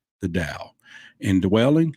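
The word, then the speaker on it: Tao: read this a lot right or da even though it's spelled ta o but Dai um and one just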